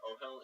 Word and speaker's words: Ohel: Is that how you say it? Ohel? Yeah.